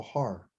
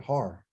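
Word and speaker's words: הר: my mind, I remember that's a H, that's a ah, and there's a R. So har. That's how you say it, har.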